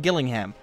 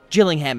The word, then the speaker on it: Gillingham: Same thing down here with Gillingham, or Gillingham is what it's supposed to be, but it looks like Gillingham to me.